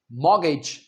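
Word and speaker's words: mortgage: मग गेज नहीं कहना। मॉगेज मॉगेज।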